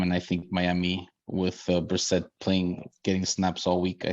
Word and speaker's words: Brissett: Oh, I'm sorry. This is Brissett. I forgot it's Brissett.